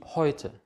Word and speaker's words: Häute: Ä und U. Vielleicht erinnert ihr noch von der ersten Lektion, ein A-Umlaut ist Ä, zusammen mit U wird auch Eu ausgesprochen. Zum Beispiel die Häute. Die Häute ist Plural von Haut.